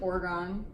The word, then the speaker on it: Oregon: I'm pretty sure it's Oregon because Oregon is like GAN.